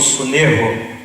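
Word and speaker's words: συνέχω: No grego, a palavra constranger se pronuncia como sunerro.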